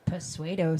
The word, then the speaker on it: pseudo: I have a teacher who would call it pseudo science. Pseudo. Yeah. Yeah, I have a teacher who would pronounce the P.